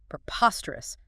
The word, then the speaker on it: preposterous: Preposterous. Preposterous. Stress. Stress on the second syllable. Bracious. Preposterous. 4 syllables. Preposterous.